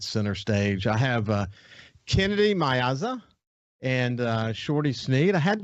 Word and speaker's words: Miazza: The truth is, it should be Miazza. That is correct. Miazza. Yeah. But the Southern drawl has destroyed it and turned it into Miazza. So pronounce it for me, Shorty. Miazza.